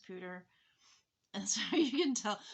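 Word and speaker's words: Poudre: and yes it's pronounced pooter and so you can tell because when i first moved here i was pronouncing it with the french pronunciation and and people would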